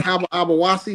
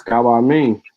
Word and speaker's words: Kaba Amin: That's not even how you pronounce his name. Ain't his name Kaba Abawasi or something like that? Nah, that ain't his name. What? How you pronounce his name? It's Kaba Amin.